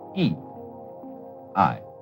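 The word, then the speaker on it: 義: not law but Justice this word is pronounced e i and Justice in this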